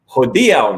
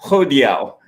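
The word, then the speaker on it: hodiaŭ: then having people correct my grammar, correct my pronunciation. No, it's hodiao, not hodiao.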